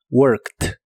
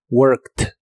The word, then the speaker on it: worked: participio de inglés es worked y significa trabajado la Ed del final se pronuncian como si fueran una t worked worked el verbo hacer en